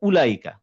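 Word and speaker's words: أولئك: উ বলার কিছু নেই, কারণ এটা আমি তো পড়বো না। করবো না। জি তার মানে উলাইকা, ঠিক আছে।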